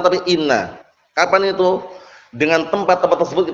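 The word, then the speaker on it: إنّ: Tempat-tempat yang inna itu di kasrah. Paham ya? Nah, di kasrah. Nah, bacanya inna. Paham ya? Bukan anna tapi inna. Di kasrah apanya? Hamzahnya itu.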